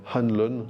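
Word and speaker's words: O'Hanlon: former avec Bill hoanlon on dit bill Hanlon le ha ne se prononce pas euh qui est un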